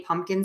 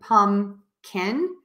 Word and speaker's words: pumpkin: you have in a pumpkin spice latte we are going to I pronounce it as pumpkin so just the way it is spelled pumpkin that's how I